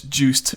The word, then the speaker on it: Joost: It's Juiced Vanderbernier. Joost van der Bernier. No, I'm Dutch. I know how to pronounce my own name.